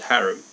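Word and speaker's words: harem: of hair for my harim I call it haram he called it harim same thing different pronunciation oh really a blond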